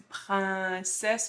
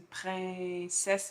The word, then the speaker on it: princesse: Donc, quand tu dis princesse, moi, c'est une princesse, ma bouche est moins ouverte. Et effectivement, c'est un peu plus à l'avant de la bouche.